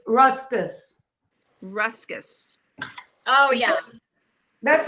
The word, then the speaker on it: ruscus: tall green spriggy thing sticking out yeah it's ruscus ruscus oh yeah that's how you say it